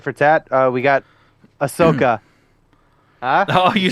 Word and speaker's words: Ahsoka: go for tip for Tat uh we got Ahsoka huh oh you said it right yeah look at you uh we got Asoka um oh I know that was on purpose